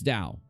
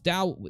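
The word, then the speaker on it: Tao: is it dao it's dao right it's not it's dao the t is pronounced dao so the l is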